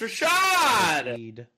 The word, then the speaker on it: Rashad: How do you say Shahed's first name? Bruno. Rashad. Shahed. Shahed. Rashad. It's Rashad.